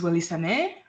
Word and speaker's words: Wellysane: so as you know my name is Willis San uh pronounced kind of like but not really so it's Willie s uh I am an